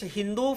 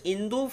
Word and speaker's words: Hindu: But in Persian language, there is no alphabet which connotes or echoes like sa. Therefore, what is Sindhu for Indians becomes Hindu for the Persians, and it becomes Hindu for the Greeks.